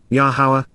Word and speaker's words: Yahowah: emphatically States expressing at this moment Cal perfect yahwah yahwah the proper pronunciation of yahwah our eloa God has directed